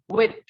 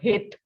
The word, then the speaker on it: huit: The next one we have for 8 is with. Listen again. With. Not hit. The sound of H will be silent because we know that H is a vowel in French, right? So it will be with. Okay.